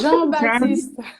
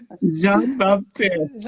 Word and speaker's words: Jean-Baptiste: How do you pronounce it? Baptiste. Jean... Jean, Jean-Baptiste. Jean-Baptiste.